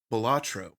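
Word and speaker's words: Balatro: have purchased a game the game is called batro that is spelled b a l a t r o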